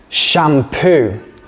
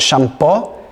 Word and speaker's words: shampoo: Shampoo. But be careful with the pronunciation. It's not shampoo, it's shampoo. Shampoo.